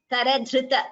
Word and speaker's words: करधृत: Dhr, not the pronunciation of this, it is dhr. It's like Amritam, Kripa, Krishnaha, like that. R. Karadhrita. Dhr. Dhr is Mahaprana.